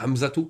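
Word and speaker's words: حمزة: Si Hamza est dans une phrase, tu vas dire Ja'a Hamzatu wa kharaja. Tu vas dire Hamzatu. Tu vas pas dire Ja'a Hamza wa kharaja. Là, tu vas le prononcer le ta ici.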